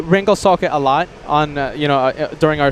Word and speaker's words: Ringelsocke: It's Ringelsocke. You have to roll the R every time. It's rolling In of the this R. case, you're rolling the R, but you don't put like an accent on the L. It's just going through the word.